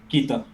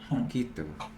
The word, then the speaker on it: Quito: Yeah, How do you pronounce that city? Quito? Quito. Quito.